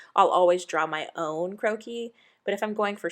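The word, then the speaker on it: croquis: have to do is type in croakie in Google which is c-r-o-q-u-i-s that's just a sketch it's in French it's fancy you're gonna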